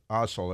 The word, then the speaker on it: Asal: Asal, it's A-S-A-L. That's how you got to pronounce it that way, because otherwise it would be culturally insensitive, like Kamala, and you don't want that.